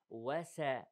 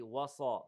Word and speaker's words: وسطا: وسا وسا طا وسا. Don't say وصا وصا. The wow is lie. The sin is lie. Don't pronounce it as a sad.